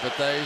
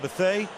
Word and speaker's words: Bethea: By the way, a lot of people call him Bethea. We're calling him Bethea.